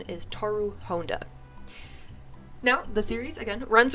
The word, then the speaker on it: Honda: in the 2001 version they say Honda like the car but uh I do believe it was basically redcon in the 2019 version and the proper pronunciation is toru Honda now the series again